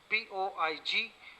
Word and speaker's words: poignancy: Poignancy, Poignancy, the G is silent here.